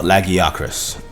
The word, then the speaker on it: Lagiacrus: Next up, let's talk about Lagiacrus. That's how you say it. That's how Eric said it in the quest, at least.